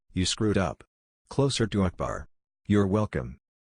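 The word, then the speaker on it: أكبر: It's not pronounced like all, but closer to ul. Same goes for Akbar. If you ACK-bar it, you screwed up. Closer to Akbar.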